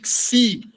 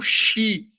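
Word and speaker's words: Ξ: Quando vocês forem pronunciar, ele é o X, mas ele com som de Texas. Por exemplo, Texa, entendeu? Ou Exa, né? O som de Xi, não Xi, como se fosse na palavra lixo, por exemplo.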